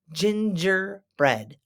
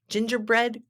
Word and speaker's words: gingerbread: yum I love gingerbread the G's are pronounced like J's because they are soft G's gingerbread gingerbread cookie can you say